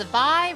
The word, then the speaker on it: Vi: It's Vi rhymes with high.